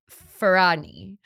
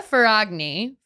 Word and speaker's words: Ferragni: around an Italian influencer named Chiara Ferrani. I'm so sorry about my Italian pronunciations here. Chiara Ferragni.